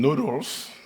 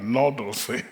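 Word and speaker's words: nodules: at the seaf Flor they call them Noodles n Noles you know not noodles right Noles I always try to to learn how to say this and some of us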